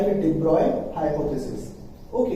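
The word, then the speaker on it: de Broglie: पढ़ेंगे डी ब्रॉगली hypothesis, और इसे डी ब्रॉगली की बजाय डी ब्रॉय पढ़ते हैं। ठीक है, तो स्पेलिंग के पॉइंट ऑफ व्यू से हम इसको लिखना पढ़ेंगे डी ब्रॉगली, लेकिन बोलते क्या है इसको, डी ब्रॉय बोलते हैं।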